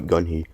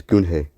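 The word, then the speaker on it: Gun-hee: Yeah, it's not Gunhee, it's Gunhei.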